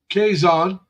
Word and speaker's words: Quezon: you got Quezon, which starts Yep. with a Q, but it's pronounced Yep. with a K.